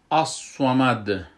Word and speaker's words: الصمد: میشه، که متوجه باشین که تیز نخوانین ایره، که ارگاهی رو تیز بخوانین این صاد به سین تبدیل میشه و معنی باز تغییر میکنه. خب این را ما میخوانیم اصومد اصومد، صاد خوب بلند تلفظ میکنیم.